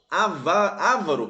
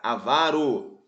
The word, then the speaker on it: avaro: álbum por exemplo né Então ávaros pessoal ávaros áv não pessoal não é áv É avaro então ele quer a